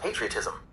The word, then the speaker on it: patriotism: In British English it's pronounced patriotism, with the emphasis on the pa.